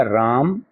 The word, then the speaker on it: रामः: आधे ह के समान। ठीक है, ऐसे लिखा राम, अब इसमें विसर्ग जोड़ दिए, रामः, क्या बन गया है?